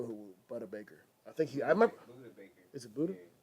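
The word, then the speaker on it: Budda Baker: Buddha Baker. Is it Buddha? Yeah. Buddha Baker.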